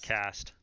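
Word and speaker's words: caste: __ ] worse yes so I'm pretty sure it's pronounced cast I was going to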